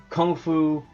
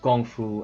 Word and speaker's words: kung fu: Kung Fu or it's traditionally pronounced Gong Fu, and it means you